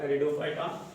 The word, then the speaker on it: Pteridophyta: पी इसके अंदर silent होता है और ये टेरिडोफाइटा बोला जाता है, ठीक है।